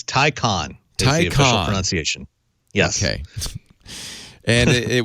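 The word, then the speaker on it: Taycan: how are you this week now it's not pronounced take can no it's Tyco on Tyco enunciation yes and it was announced in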